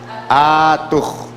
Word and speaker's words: atuj: ¿Cómo se pronuncia? Atuj. Y no atuj, sino atuj. Grave, ahí está.